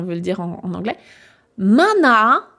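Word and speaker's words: マナー: Mana, donc mana allongement.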